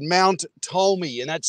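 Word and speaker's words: Tolmie: there's a park nearby and it's called Mount Tomi and that's spelled t o l m i E I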